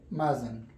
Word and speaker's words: mustn't: It means that this T is silent. You can say mustn't.